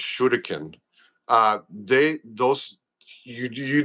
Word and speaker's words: shuriken: lot of people don't realize like uh I'll pronounce it the correct way. Shuriken or shuriken which are throwing stars as Americans call them but they're pronounced shudikin.